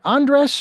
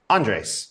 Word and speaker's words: Andres: Is it Andres or Andre? Andres.